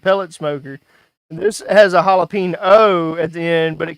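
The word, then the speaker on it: jalapeño: Um, it's pronounced jalapeno.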